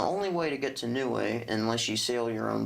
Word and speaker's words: Niue: in um it's the island of neway in the south pacific it's spelled niue and the only way to get to new way unless you sail your